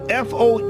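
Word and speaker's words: FOE: been one because the fo ease which I pronounce is fo is an acronym for the forces of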